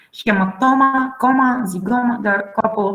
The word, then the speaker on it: zygoma: Z is Greek too. So the examples are Greek. It sounds like z. Zygoma, zoologia, eczema.